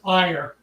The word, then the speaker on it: Ire: It's ire, as in IRE.